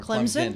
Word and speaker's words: Clemson: Clemson or Clemson? Clemson. It's supposed to be Clemson. Yes. No Z. We say it with the Z. Clemson.